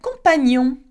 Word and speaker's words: compagnon: Le compagnon. Le compagnon. Okay, we don't say compagnon. Again, it's ni on.